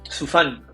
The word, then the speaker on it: Sufan: Hoy consulta tu apellido, ¿cómo se pronuncia? Su fan, pero en verdad me gusta que me digan, es más fácil.